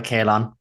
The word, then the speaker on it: Caolan: So fairly it's I go by Kalon.